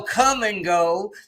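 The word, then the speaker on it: Kum & Go: For those of you who don't know, Come and Go is a gas station.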